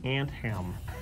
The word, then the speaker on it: Anthem: Someone asked what's the name of the game, and I would like to clarify this, that it's actually Anthem, like pants, Like tiny pants on for an ants.